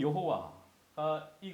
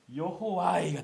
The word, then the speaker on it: 여호와: 모음을 차용해 한 겁니다 아도나이 아 오 아이 그래서 여러분 여호와가 되는 겁니다 야호이 우리가 발음하는 여호와라는 이름은 사실 하나님이 알려주신 발음은 아니에요이 YH wh 어 기본으로 하고 아도나이 모음을 붙인 거예요 여호와라는 이름을 사실 그래서